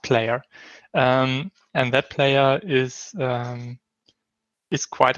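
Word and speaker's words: Plyr: use a player called, I don't know how to pronounce it, P-L-Y-R. I guess it's just pronounced player.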